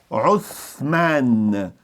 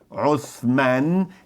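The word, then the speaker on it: عثمان: Outra curiosidade, Império Otomano veio da palavra Otman, que em árabe, em turco, se pronuncia Uthman. Uthman, esse TH tem exatamente a pronúncia de think no inglês, think, então Uthman foi o nome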